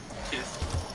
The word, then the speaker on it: Kith: It's the word kiss, pronounced like Mike Tyson, so Kith, and I use it to not get demonetized whenever I'm talking about naughty stuff.